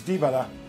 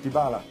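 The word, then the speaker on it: Dybala: don't speak Polish but some people believe that the correct polish pronunciation is DiBella and not dibala so for EM Poland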